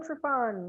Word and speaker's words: Triffon: and then we have madeline trafon madeleine madeleine trevon rhymes with chipon from perfect weather in michigan well